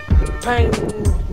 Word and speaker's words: Pailand: And I've got another 20 kilometers to the next area, which is Pailand.